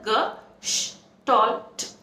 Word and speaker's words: Gestalt: The word Gestalt or Gestalt is a German word which is pronounced as Gestalt.